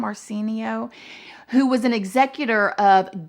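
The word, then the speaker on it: Marciano: 1993 a man named paul marcenio i think is how you say his name marcenio who was an executor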